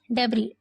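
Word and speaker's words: debris: वाली machine drilled through डबरी यह डेब लिखा हुआ है लेकिन इसे डबरी पढ़ते हैं एस को प्रोनाउंस नहीं करते हैं तो कह र जैसे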